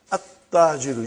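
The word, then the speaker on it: التاجر: At-tajiru. You see, your tongue has to touch, the upper part of your mouth inside.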